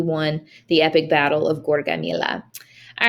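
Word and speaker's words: Gaugamela: battle near syria of gorgamila that's how you pronounce that the battle of gorgamila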